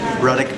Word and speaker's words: Ruddock: There's like Ruddock rhymes with buttock, PGR, Ruddock loves trains, all sorts of stuff.